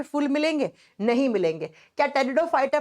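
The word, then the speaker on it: Pteridophyta: पे आता है टेरिडोफाइटा लिखा जाता है पी से प्रोनाउंस किया जाता है टी से टेरिडोफाइटा हिंदी में सेम नाम है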